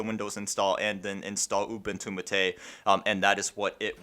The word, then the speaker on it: Ubuntu MATE: official Ubuntu Mate website, it says to pronounce it as Ubuntu Mate. It's named after some sort of herbal tea, I think.